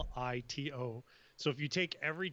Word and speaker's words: Ippolito: Ippolito.